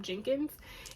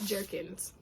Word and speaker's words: Jerkins: baby by morgan jerkins i think for a long time i've been pronouncing her name jenkins and it's jerkins oh my gosh this